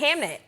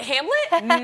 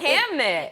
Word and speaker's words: Hamnet: Hamnet. Yes. Hamnet. Am I saying it right? You are, but I know. was like, Hamlet? No, Hamnet.